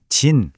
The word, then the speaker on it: じん: 음독 즉 소리로는 진 또는 민이라고 읽고요.